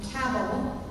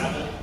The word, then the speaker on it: cabal: Oh, sorry, did I say it wrong? Yeah, sorry. cabal. The cabal. Kabul is a city in Afghanistan.